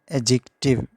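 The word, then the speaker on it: adjective: तो इसकी correct pronunciation है एडजेक्टिव, एडजेक्टिव। तो डी और जे जहाँ भी इकट्ठे आ जाएं तो वो डी साइलेंट होता है।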